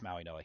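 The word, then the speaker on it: Mauigoa: I don't know how to say it. Yeah, it's Maui Noah.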